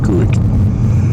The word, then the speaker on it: Quoich: It's spelled Quoich, but don't ever say it like that. O-I-C-H. It's pronounced Quick.